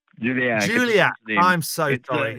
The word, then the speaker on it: Julachak: You did really butcher the name. I'm so sorry. It's right on. It's okay. I don't mind. It's Julachak. Juliac.